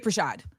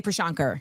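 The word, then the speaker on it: Prashad: Al Rolando put it in the um in the chat by VJ Pashad. I always want to say Pashanker and that's not what it is.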